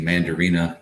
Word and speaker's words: Mandarina: And then the Mandarina, which obviously Mandarina kind of rhymes with Mandarin.